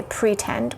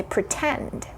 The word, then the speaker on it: pretend: Another example from there is tattoo or pretend, right? We don't say pretend, we say pretend.